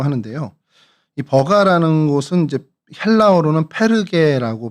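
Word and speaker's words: Πέργη: 그래서 이곳을 좀 저희가 오늘 살펴보려고 하는데요.이 버가라는 곳은 이제 헬라어로는 페르게라고 발음을 합니다.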